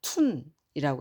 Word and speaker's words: 吞: 하늘천 더하기 사람 입위에 그런데 글자는 툰이라고 합니다 툰 이제 한국우 한국의 발음으로